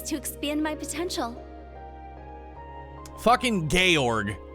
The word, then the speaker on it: Georg: Fucking Georg, right? I said it right this time. It's not Jorge.